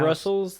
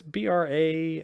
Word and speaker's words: Brasles: Not Brussels, though? Is it? It's Brasles. Okay. It's French.